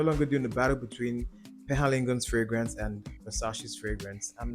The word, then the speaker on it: Penhaligon's: That's Penhaligon. Sorry, I didn't pronounce it correctly. Penhaligon.